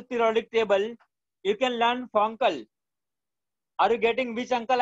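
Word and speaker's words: FONCL: in the whole periodic table, you can learn Fonkel. Are you getting which uncle I'm talking about? I am talking about Fonkel. Name of uncle is Fonkel.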